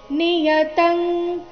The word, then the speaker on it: ನಿಯತಂ: ಕರ್ಮತ್ವಂ ಈ ಚರಣದಲ್ಲಿ ನೋಡಿ ಎರಡು ಜಾಗದಲ್ಲಿ ಅನುಸ್ವಾರ ಬಂದಿದೆ ನಿಯತಂ ತಂತರ ಮತ್ತೆ ತ್ವಂಗ್ ಅಲ್ಲಿ ತ್ವ ನಂತರ ಅನುಸ್ವಾರ ಎರಡು ಅನುಸ್ವಾರಗಳ ಉಚ್ಚಾರಣೆ ಅನುನಾಸಿಕಂ ಗ ರೀತಿ ಬರ್ತಾ ಇದೆ ಯಾಕಂದ್ರೆ ಮುಂದಿನ ಶಬ್ದ ಕ